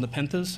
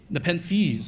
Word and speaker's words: Nepenthes: induced today of one's called nepenthez and I'm probably mispronouncing that because it's some hmm Nepenthes okay thank you I'm gonna have